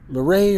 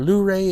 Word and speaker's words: Luray: Now, I always have to ask them how to say Lorray or Luray, and even the locals say they argue over it, but some say Lorray, some say Lu.